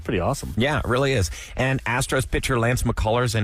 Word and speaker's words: Isla: gray is her name Isa Isa that's how you say likea how you say it uhuh like Isa Fisher oh like Isa oh